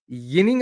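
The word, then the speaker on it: Ginning: Because now apparently he wants, I don't know if you guys heard, but he wants to be called Yinning again. With a Y. And then the Y pronunciation.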